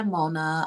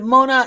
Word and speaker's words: Monah: oh um cupcakes by Mona um my last name well Mona my last name is spelled m o n a h don't forget the H and you're going to